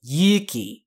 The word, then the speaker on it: Yuki: That is long, and Yuki means like courage, so Tanaka Yuki. If you're going to do a correct pronunciation on it, if you do a short Yuki like that, it means snow, so you want to give it Yuki.